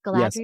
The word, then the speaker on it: Galadriel: So, our beautiful movie starts with an opening speech and I wrote this is very Galadriel. Did I get that right? Oh, nice. Yes. Yes. It's pronounced Galadriel.